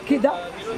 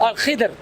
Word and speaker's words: Al-Khidr: Let the inhabitants, let the village that Kida inhabits.